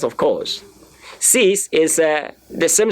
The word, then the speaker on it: six: you are pronouncing it the X at the end they will change towards s so C let me say cease cease cease cease that